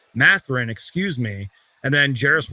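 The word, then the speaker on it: Mathurin: They got guys like Andrew Nembhard, Ben Shepherd, Bennett Math. I can't even say his name. Matherin, excuse me.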